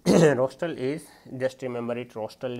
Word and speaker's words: rostral: Rostral means rostral is, just remember it, rostral is rhyming with like nostril, so it will be anterior to that.